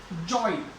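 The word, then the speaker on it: joy: जैसे जॉय, ओ ई की साउंड।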